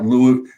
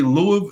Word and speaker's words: Louisville: was learning to say it right is not Loulou and that's and comfy hold on it's pronounced spelled ello you i sv i ll